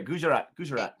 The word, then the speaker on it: Gujarat: because I don't say Gujarat or Gujarat or I don't say it properly. You got it right there, Gujarat.